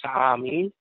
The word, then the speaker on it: Sa'ami: These beings said that is their home planet, and they call that planet the Sa'ami, 3 syllables.